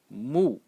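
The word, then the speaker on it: 木: The semantic element in this character is pronounced moo moo and uh moo is wood or tree.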